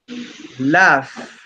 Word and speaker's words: laugh: So we have, for example, the GH is laugh, Laugh, laugh. Laugh. laugh, Past is Laugh. laughed, laugh. laugh, Laugh. You have laugh. to sound like Laugh. laughed. That's the pronunciation in past. Laugh.